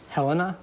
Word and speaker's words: Helena: Helena? Yes, Helena's right, and you pronounced it right as well.